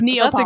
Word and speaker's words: Neapolitan: No, wait, not Napolitan. I was like, yeah, that's correct. Neapolitan. Yeah, me too. I was like, I think I've always mispronounced that though. I know. It's Neapolitan. That's a good ice cream, right?